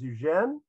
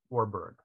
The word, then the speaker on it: Eugène Warburg: other preliminary comment uh never quite clear how to pronounce our subject's name in a talk like this francophone man who spent an important part of his life in an anglophone environment later on i'll pronounce his first name as eugene but his last name in an anglicized version of warburg okay only three works